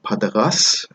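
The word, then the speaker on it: Partagás: So Partagas was founded by Don Jaime Partagas.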